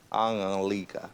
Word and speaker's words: Anulika: Anulika.